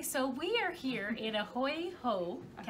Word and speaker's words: A Hui Hou: It's so hard to pronounce. Yes, it is, but I get it. A Hui Hou. A Hui Hou.